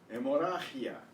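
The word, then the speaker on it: hemorragia: Hemorrhagia. Hemorrhagia. Hemorrhagia. The H is silent and the G before the I is and the double R is trilled.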